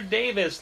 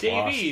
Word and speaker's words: Davies: I did the very first thing I asked him on the podcast was, is it Davies or Davis? Like Greg Davis? We it's just Davies.